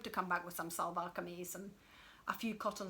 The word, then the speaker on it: salwar: I would wear salwar kameez. I don't think I would wear saris. Sorry, I'm not going to pronounce this. How do you say the first one? Salwar.